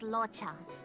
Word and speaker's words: Luocha: what was it again locha his name is locha I pronounce the difference he came to the sianjo